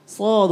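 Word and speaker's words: ص: এজন্য বলতেছি সদ উচ্চারণটা সদ এটাকে আরেকটু। এটাকে তোমার একটু মোটা করতে হবে।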